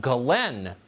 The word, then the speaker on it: Ghislaine: crimes including sex trafficking her name apparently is pronounced Glenn Maxwell spelled jizz Lane you know she is